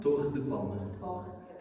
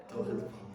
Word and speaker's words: Torre de Palma: I want to make sure I'm pronouncing the name of your vineyard correctly. Torre De Palma? Torre De Palma. Torre De Palma.